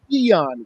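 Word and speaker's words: Keion: His pronunciation is Keon White.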